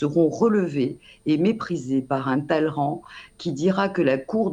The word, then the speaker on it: Talleyrand: Il est attesté qu'il ne prononcera jamais correctement le nom de Talleyrand. On disait Talleyrand, mais on dit Talleyrand en français.